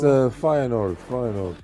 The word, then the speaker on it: Feyenoord: I don't know how to pronounce it. Oh, it's Feyenoord. Yeah, Feyenoord, whatever.